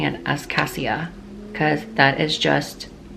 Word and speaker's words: Cassia: name is supposed to be pronounced cat Asha c a SS I a but in no world am I going to pronounce her name casha because I can't help but think of Kesha